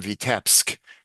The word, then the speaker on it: Vitebsk: But the other thing I wanted to point out is Ansky, who wrote this, was from Vitebsk, where he used the northern Yiddish pronunciation, the Litvish.